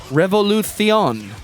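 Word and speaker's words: Revolución: In regards to my mispronunciation, I assume, Boogie M says it's pronounced Revolucion.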